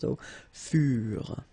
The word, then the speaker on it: furent: Keep in mind that ENT, you know, the ending for the plural form is never pronounced, so furent.